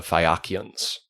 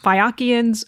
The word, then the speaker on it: Phaeacians: So just as a note, Cam pronounced it Phaeacians, which is closer to how it would have been said in Greek. I tend to say Phaeacian, which is an anglicized pronunciation of it.